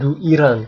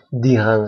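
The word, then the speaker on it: d'Iran: sehingga mudah juga diucapkan bukan du Iran Tapi Dian saja Oke selanjutnya kita tidak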